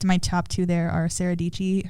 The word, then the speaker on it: Dietschy: And so I think my top two there are Sarah Dietschy, her name rhymes with Peachy, and that's like her